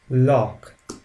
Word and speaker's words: Loch: The seha followed after vowels like a, o, u always take the sound k, like in sick. The word sick has the sound k, and this seha combination, whenever we see after the above mentioned vowels, takes the sound k.